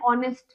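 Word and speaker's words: honest: पीछे लगा हुआ है ऐसे एन ऑनेस्ट मैन आप देख सकते हैं एच साइलेंट होता है य वल से पीछे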